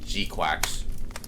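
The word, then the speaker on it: GQuuuuuuX: Tom says it's pronounced Gquax. Gquax.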